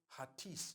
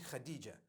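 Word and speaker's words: Hatice: across the name Khadijah in Turkish some people spell it h a t i c e I would say hatis for that no it's actually Khadija in Turkish that's the way they write it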